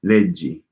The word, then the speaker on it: leggi: So hard G in leggo, but soft G in leggi. Leggi. Okay, it's because of the I.